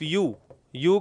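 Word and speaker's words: ewe: क्या यूज करेंगे एन और इस शब्द को बोला जाता है सिर्फ यू यू का मतलब होता है मादा भेड़ मादा भेड़ भेड़ होता है शीप और उसकी जो मादा होती है।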